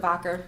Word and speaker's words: Wacker: Alexander voder um which is why we we pronounce it voder but it's sounds like Wacker so we're actually